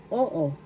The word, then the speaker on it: oo: example halimbawa in tagalog oo o oo yes in oo first syllable o second syllable O small letter O. O. O. The first syllable O is where the accent is.